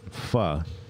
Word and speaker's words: Pho: the but yes it's pha is how pho is actually pronounced so it's [ __